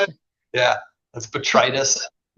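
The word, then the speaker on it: botrytis: Yeah, that's betritis.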